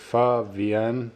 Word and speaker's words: Pho VN: went to is it Pho vien then uh it's short for Vietnamese okay so it's far and then Vietnamese but it's just abbreviated to VN and it is delicious